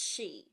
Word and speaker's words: Sidhe: is gonna be the Celtic legends of the XI and it is spelled s idhe but it's pronounced XI so I'm just gonna talk about a few